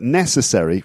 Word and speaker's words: necessary: become very weak yeah so it's not re but necessary yes uh uh a lot of schwa sounds yeah um okay so